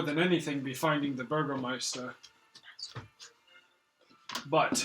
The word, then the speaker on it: Burgomaster: I think perhaps we should, more than anything, be finding the Burgermeister. But I think it's pronounced Burgomaster. I prefer Burgermeister.